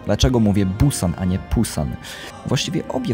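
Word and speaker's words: 부산: A co do Busanu? Po pierwsze, dlaczego mówię Busan, a nie Pusan? Właściwie obie wymowy nie są poprawne. Gdyż koreańska wymowa to jest coś pomiędzy B a P.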